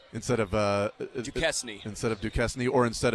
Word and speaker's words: Duquesne: Do you think he also got those gifted from Nike so that he could, hey, Nike, can you send Duquesne these shoes?